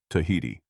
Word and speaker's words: Tahiti: description with the word Tahiti. However, the islanders pronounced it with a soft aspiration, namely Tahiti.